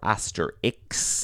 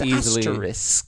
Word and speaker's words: asterisk: We're not going to debate whether it's pronounced asterisk or asterix. It is asterisk.